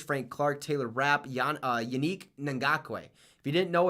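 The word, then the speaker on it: Yannick Ngakoue: Clark Taylor rap uh unique nangakue if you didn't know it's not Yannick it's Unique nangakue like unique that's how it's said if you don't know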